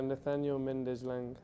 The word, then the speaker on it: Nathaniel Méndez: know if you can tell us the correct pronunciation of your name and last name it's a Nathaniel mendezlang okay thank you well Nathaniel um just by